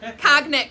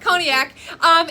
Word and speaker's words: Cognac: Cognac is what I used to call it. Cognac. And Christine was like, that's not how you say it. Cognac.